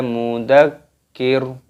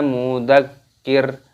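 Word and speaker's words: مُذَكِّر: Anta mudzakir, mudzakir. Di sini ada huruf kaf, terdapat tasdid, maka di sini diidghamkan, dimasukkan mudzakir.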